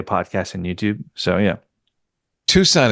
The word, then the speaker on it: Tucson: Tucson is spelled with an extra C, I should mention.